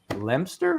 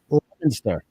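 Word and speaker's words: Leominster: But it's it's pronounced uh uh Lemster. Is that right? Lemster. Lemonster. Lemonster. Lemonster. There's another syllable in there.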